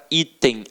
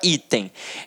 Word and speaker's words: item: Então, olha para a palavra item. Ela é uma paroxítona terminada em EM. O EM, que está no nosso quadrinho. Portanto, ela não leva acento.